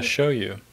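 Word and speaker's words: shōyu: was yeah see yeah show you show you is how you say soy sauce yeah so of course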